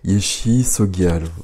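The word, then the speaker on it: Yeshe Tsogyal: Alors, la prononciation, parce que j'en ai marre, à chaque fois je me plante. Yeshi Sogyal. Ouais, j'étais pas très loin.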